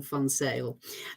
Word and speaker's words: van Zyl: that pronunciation was perfect it is Jane fonzale um the my surname is originally South African um if it was Dutch it would be v-a-n and then z-i-j-l um so I know